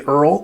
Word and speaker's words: IRRRL: And today we're going to talk about the VA IRRRL, pronounced like one of my favorite TV shows of all time. My name is Earl. VA IRRRL stand for Interest Rate Reduction Refinance Loan.